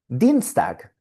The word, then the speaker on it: Dienstag: Dienstag. ¿Cuántas sílabas tiene Dienstag? Veamos. Dienstag. Tiene dos sílabas. Y la combinación IE está en la primera sílaba.